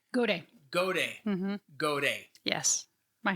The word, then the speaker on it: Gaudet: Gaudet.